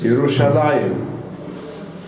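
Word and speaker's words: ירושלים: have to say it and read it it's yerushalayim because with as you that means it's in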